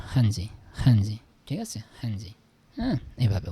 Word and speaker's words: 汉字: দেখেন ওয়ার্ড হিসেবে যখন লেটার হিসেবে যখন এই যে এইচটাকে আপনারা উচ্চারণ করবেন তখন খ মানে একটু গলা থেকে নিয়ে আসবেন। আর যখন ওয়ার্ডের ভিতরে এই থাকবে হ্যা তখন হটাই বলবেন একটু গলা থেকে বলবেন হ্যাজি হজি ঠিক আছে হজি